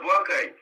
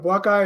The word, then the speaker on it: Boakai: Ambassador Boakai. Mr. Boakai, is saying it wrong? No, I just want you, can you just try to elevate it a little bit, sir?